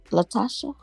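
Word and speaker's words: LaTocha: what's going on what's going on with Latasha Latasha yeah that's how you say her name what's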